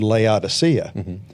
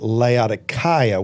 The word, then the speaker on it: Laodicea: But I remembered that our guide in Turkey kept calling it Laodicea with a hard K or a hard C, which is the way they pronounce it even to this day.